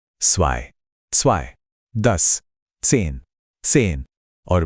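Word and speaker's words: zwei: जब भी आपको जेड दिखे तो मुंह से की एक तेज आवाज निकालनी है। जैसे इंग्लिश में कैट्स के आखिर में जो की आवाज आती है बिल्कुल वैसी यह ज या ज बिल्कुल बिल्कुल भी नहीं है।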